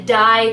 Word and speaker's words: Deye: So they released the Dye collection, but it's spelled D-E-Y-E, and it is a limited edition palette, where the other ones I think are all staple palettes.